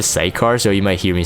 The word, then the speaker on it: Sicar: things first is dagus dagger cycar that's how people are pronouncing it i always said a site car so you might hear